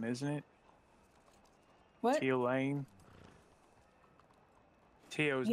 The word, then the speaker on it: Theo: but he pronounces it T-O. Yeah, it's actually Okay. not. He spells it. He pronounces it weird. I don't know how to pronounce the full name, but we just call him Tio.